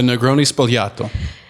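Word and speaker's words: Negroni Sbagliato: The Negroni Spolato.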